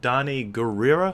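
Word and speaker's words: Danai Gurira: yeah is is that I believe her name is pronounced Don gerera I think that's her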